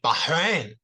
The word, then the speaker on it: Bahrain: okay so oh so you pronounce like bahin all right yeah it's like in the throat right yeah I speak